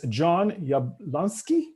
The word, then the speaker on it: Jon Yablonski: Okay, so now I'd love to introduce Jon Yablonski. Is this how you say it? You nailed it.